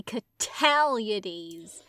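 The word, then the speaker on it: Cataliades: his name catalady cataldese you gotta say catalities the Italian because they even she even says in the text stress on the second syllable totalities Mr catalities this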